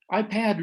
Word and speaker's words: iPad: here i pulled well ipad really sound more should rhyme with bat an ipod should rhyme